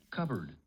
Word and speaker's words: cupboard: Cupboard. Cupboard. Cupboard. Cupboard. Cupboard. Cupboard. Yeah, the P is silent.